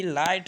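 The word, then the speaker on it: light: تو وہ جی ایچ کس طرح سائلنٹ رہتا ہے؟ ابھی آپ یہاں پر دیکھیں، ایل آئی جی ایچ ٹی، لائٹ. لائٹ کہتے ہیں.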